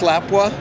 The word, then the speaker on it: Lapua: Am I pronouncing that right, Lapua? It's Lapua.